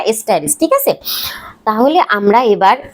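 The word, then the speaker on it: asterisk: এই টির সাথে এই স্টার চিহ্নটাকে বলে এস্টারিস, উচ্চারণটা এস্টারিস, ঠিক আছে।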